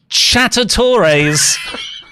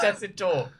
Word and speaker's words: Tessitore: Getting your Joe Tessitores. Joe Tessitore! Joe Tessitore! So, what? Joe Tessitore.